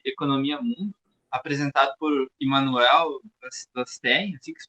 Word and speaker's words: Wallerstein: Joel, esse conceito de sistema mundo, baseado no conceito de economia mundo, apresentado por Immanuel Wallerstein, assim que se pronuncia? Wallerstein.